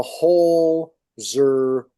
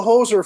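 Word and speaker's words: Holzer: doesn't go too well the whole zer files not not the hoser files right h o l zer uh files panel so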